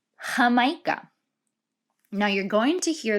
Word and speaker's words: Jamaica: on our map here jamaica or how we pronounce it in spanish hamaika now you're going to